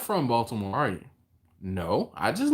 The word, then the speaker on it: Baltimore: Yes, Baltimore. He said, you're not from Baltimore, are you? No, I just live here. Why? He said, because you pronounced the T in Baltimore.